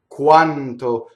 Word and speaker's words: quanto: Now, the reason it's a semi-vowel is that you do form that vowel exactly in the u position, and it goes by so fast, we hear a W.